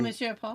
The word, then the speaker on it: Monsieur Paul: Oh, Monsieur Paul.